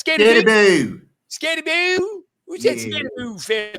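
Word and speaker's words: Skattebo: It's Scatabo.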